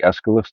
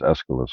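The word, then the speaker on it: Aeschylus: remembering his name now if I say a e s c h y l u s does that sound like escalus to you all right I think that's how you say it is escalus right so you have one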